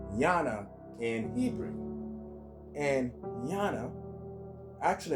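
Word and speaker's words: יונה: All right, Jonah actually is pronounced Yana in Hebrew.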